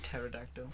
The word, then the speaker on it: pterodactyl: um pterodactyls they're cool the silent PE yeah terredactyl just like that lion how would you